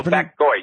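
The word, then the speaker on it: 白鬼: Oh, Bak Gwai, yes. That's the Chinese pronunciation of White Devil. And you're right, it's Bak Gwai.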